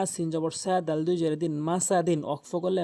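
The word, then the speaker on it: مسد: Aden মিম জবর মা scene জবর সাল দুইদিন মাসাদিন ওয়াকফ করলে মাসাদে মাসাদে এখানে এখানে বলা হয়েছে কলকলার হরফে ওয়াকফ হইলেও কলকলা করিয়া পড়িতে হয়।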